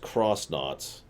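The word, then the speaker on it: X-Nauts: it'll tell you that you're supposed to pronounce it cross instead of X which also means Tech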